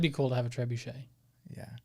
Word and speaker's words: trebuchet: like yeah that'd be cool to have a trebuchet yeah trebuchet it's trebuchet trebuchet it's an e not an